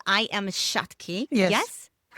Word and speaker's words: Shakti: Um I read your book and it's called I am Shaki. Yes, correct pronunciation perfect.